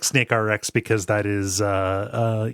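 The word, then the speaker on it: SNKRX: of the interview was how do you pronounce SN krx um and uh the developer the creator of the game has confirmed it is snake RX snake RX okay yeah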